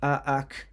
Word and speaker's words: Aatxe: The Aatxe, pronounced Aatxe, is no simple phantom bull or rustic sort of ghost story.